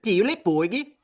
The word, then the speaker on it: Pirate Borg: Or in Swedish or whatever you said. Pirate Borgi. Pirate Borgi. You got to say it correctly, I think.